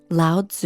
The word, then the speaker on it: Lao Tzu: In the Tao Te Ching (Pronounced: Dao The Jing), ancient Chinese philosopher Lao Tzu (Pronounced L-ah-oh D-zoo) wrote: "Life is a series of natural and spontaneous changes.